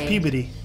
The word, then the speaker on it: Peabody: If you're from Massachusetts, it's pronounced Peabody.